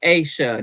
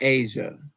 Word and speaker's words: Aisha: It's Aisha, not Asia. Oh, so like split her name at the A at the Y. Split the name between the Y and the S in it.